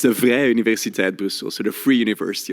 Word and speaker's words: Vrije Universiteit: It's the Vrije Universiteit Brussels, so the Free University of Brussels.